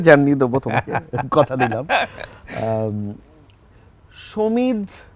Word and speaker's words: সমিত: সমিত, যারা বাংলা ভালো জানে বা উচ্চারণ যাদের ভালো, তারা সমিত বলে। সমিত, আমি বলি সমিত, মানে সমিত। বাঁয়ার যে ধন ওটা আছে ওই রকম সমিত, যাতে সমিত না হয়ে যায়।